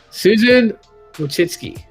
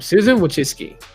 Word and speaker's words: Wojcicki: Wait, Susan Wojcicki. That's how you say her name. Thank you, Google, for the breakdown of her pronunciation of her name. Susan Wojcicki.